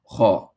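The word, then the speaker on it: خاء: And remember that Kha is a letter to where the mouth is full, to where you pronounce it with an AW in English, like aw. So Kha.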